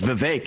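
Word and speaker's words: Vivek: I say my name's vake it rhymes with cake it ain't about thee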